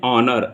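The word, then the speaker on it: honour: ठीक है, thank you for being with us, इट इज एन ऑनर। यहाँ उच्चारण ओ से है, एच साइलेंट है इसलिए एन आएगा।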